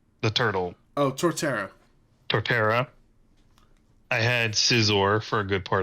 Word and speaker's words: Torterra: I had Terraria. Is that how you say his name? The turtle. Oh, Torterra.